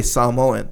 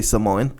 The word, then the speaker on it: Samoan: as a poser cuz that's like the authentic way to say it so if you're Samo you're going to say samoen right but then usually people just say Samoan you know you know